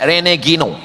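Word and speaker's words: René Guénon: Cara bacanya Renegino.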